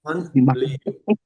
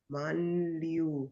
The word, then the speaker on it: Manliu: Ion Manliu. Manliu. Manliu. Manliu. Manliu. Yeah, but don't pronounce with the American accent. So it's not man, it's Manliu. Manliu.